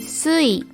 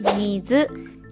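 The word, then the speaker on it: 水: For example, the kanji water was pronounced shui in Chinese. The Chinese pronunciation was adopted into Japanese sound, so the on-reading for this kanji became sui. However, the Japanese word for water was already mizu, so mizu became its kun-reading.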